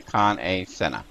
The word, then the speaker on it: Kan-E-Senna: but right now we are here talking to con a senha and I know as e but M is pronounced a so it's con come and you